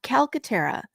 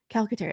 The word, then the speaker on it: Calcaterra: it's pronounced Calcaterra. Calcaterra. It's phonetic. It's pretty easy. It's just long, so it looks scary, but it's definitely an